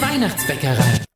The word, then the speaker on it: Weihnachtsbäckerei: Singen und backen in der Weihnachtsbäckerei.